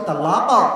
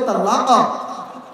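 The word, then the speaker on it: طلاق: যেই অক্ষরটা এটা হচ্ছে তালাক কফ এই যুবকরা পড়ো নাই তোমরা কম কলার হরফের প্রথম হরফটার নাম কি ক আছে না তো হুজুর বলতেছে উচ্চারণ হবে তালাক আর তুই বলেছিস তালাক তো তালাক হয় নাই যা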